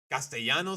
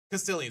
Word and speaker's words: Castilian: It's just a lot of lisping with uh gastiano Spanish. European Spanish. Cuz is it Castilian? Castilian Spanish is how you say it in English.